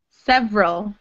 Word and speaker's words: several: It looks like three, but it sounds like two.